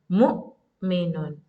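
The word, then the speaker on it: مؤمنون: And when Hamza is with sukoon, that means you have to stop on the sound of Hamza. Mu. It's like taking a break on the letter Hamza. Mu'minun. Mu'minun. That's how you pronounce Hamza.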